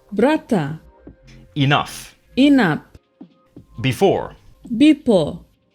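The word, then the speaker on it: brata: of Melanesia for example brother is pronounced Bretta enough in app before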